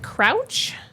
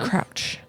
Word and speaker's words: Crouch: Is it Crouch? Oh, C R O U C H like you crouched on the floor.